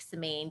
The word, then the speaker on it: Semaine: butchered American way. Yeah. So Semaine is exactly how we say it, and it does mean the week in French.